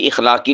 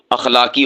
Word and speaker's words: اخلاقی: ہمارا اخلاقی فرض ہے، نہیں اخلاقی نہیں ہوتا، اخلاقی ہوتا ہے، یعنی حمزہ کے زبر کے ساتھ اخلاقی، ہماری اخلاقی حالت،